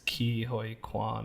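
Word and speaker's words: Ke Huy Quan: know Brendan Frazier and how do you say his name I think it's Ki hoi Quan I think is how you say it I'm not positive they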